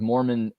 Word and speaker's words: Mormont: that comes out of Mormon eizi in Bonia it's pronounced Mormon it's pronounced Mormon but it's with a t but uh they have